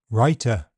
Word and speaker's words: writer: W is silent in some words. Sword, to, answer, who, whole, and in all words beginning WR. Wrong, wrist, writer.